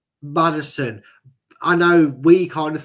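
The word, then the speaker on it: Maddison: Tielemans, Mads. Uh, not Mads Mads and Madders. Sorry, I'll say it properly. Madison, I know we kind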